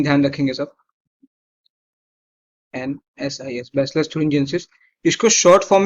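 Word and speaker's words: Bacillus thuringiensis: जैसे कि एक बैक्टीरिया है जिसका नाम है बैसिलस थुरिंजियंसिस. एक बैक्टीरिया है जिसका नाम है बैसिलस थुरिंजियंसिस. बैसिलस थुरिंजियंसिस, THURIN. इसकी स्पेलिंग बहुत इंपॉर्टेंट है. थुरिन जेनेसिस, GIENSIS. स्पेलिंग ध्यान रखेंगे सब. NSIS, बैसिलस थुरिंजियंसिस.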